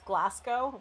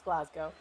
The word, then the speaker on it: Glasgow: names yeah um because a lot of people say it's glasow which it's not it's Glasgow but you know they've